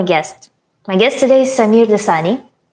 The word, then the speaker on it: Sameer Dossani: My guest today is Samir Dasani. Correct me if I'm pronouncing your name wrong.